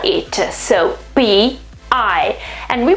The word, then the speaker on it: pi: that's great i mean this is a another kind of pie this is i mean